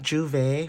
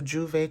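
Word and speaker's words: Jouvert: So Juvet could be very significant. Someone could be going to Juvet even though it's not spelled like that. It's spelled J O um J O U V E T if I'm not mistaken.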